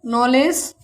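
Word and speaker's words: knowledge: इसे पढ़ेंगे night, no, knife, नॉलेज, knock. आगे देखते हैं एल साइलेंट कब होता है।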